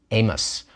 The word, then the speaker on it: Amos: and we call him amos we don't pronounce the i and we just go right to the vowel sound but amara also starting